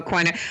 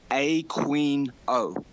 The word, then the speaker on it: Aquino: He doesn't pronounce it Aquino, which is how it should be pronounced. He pronounces his own name Aquino.